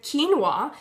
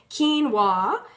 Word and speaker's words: quinoa: And so tonight we are streamlining mealtime with quinoa. So if you can help me out and say this a couple times slow, quinoa, quinoa, quinoa. So now you know how to pronounce it.